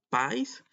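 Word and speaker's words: παῖς: una palabra que encontramos acá y que se pronuncia país y este esta palabra es muy cuestionada Y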